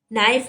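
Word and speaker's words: knife: नाइफ में silent क्या है, के।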